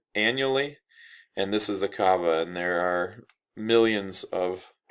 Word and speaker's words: Kaaba: And this is the Kaaba, as it's pronounced there, K-A'-A-B-A, is still what pilgrims go to see when they go on their Hajj to Mecca.